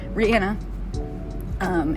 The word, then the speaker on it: Rihanna: this is Rihanna and Rihanna excuse me that's how she actually pronounces her name Rihanna and her company Fenty